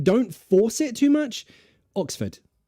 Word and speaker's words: Oxford: okay no instead of Oxford you might be pronouncing the r in Ford it's not Oxford it's Oxford Oxford say it like that Oxford it's a schw again Oxford so first stress